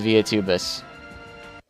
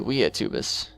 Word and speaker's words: Via Tubus: Alright, completed the analysis of the Via Tubus. Or the Via Tubus. Because Via, it's Latin, and so you should pronounce the V like W.